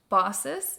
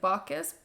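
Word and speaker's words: Baucis: Asia Minor there lived an elderly couple named bosses it's spelled b a u c i s like bakus but apparently the pronunciation is bosses and filon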